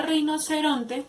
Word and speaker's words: rinoceronte: Y en la palabra rinoceronte lleva el acento en la palabra ron. Rinoceronte.